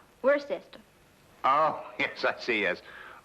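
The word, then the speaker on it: Worcester: else too doc but it's spelled w w-o-r-c-e-s-t-e-r we're sister oh yes i see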